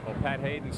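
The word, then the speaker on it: Haidon: his feet not h-a-d-e-n though it is pronounced the same as pat hayden the former rams quarterback now a broadcaster with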